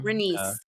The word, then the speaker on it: Rhaenys: Renice.